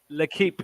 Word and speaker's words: L'Equipe: L'Equipe. L'Equipe. And they're obviously slaughtering these players again. It's French. So you pronounce the QU as you would when you say quiche. Oh, right.